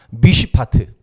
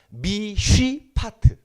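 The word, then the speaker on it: מִשְׁפָּט: 미쉬파트. 발음이 어렵죠? 미쉬파트.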